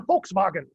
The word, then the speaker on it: Volkswagen: wittenberg also fun fact these are pronounced like f's so the german car volkswagen as we would say is actually the volkswagen the people's car if you know anything